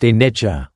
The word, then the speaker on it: anicca: At the very heart of the Buddha's teaching on impermanence lies the Pali word anicca, pronounced anicca.